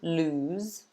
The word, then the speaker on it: lose: this is the pronunciation it's a long oo lose even though it's only got one o we pronounce it ooh